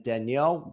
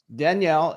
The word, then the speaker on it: Danielle: I am joined here today by Mike Swire and Danielle Cwirko-Godycki. Now, did I pronounce that right, Danielle?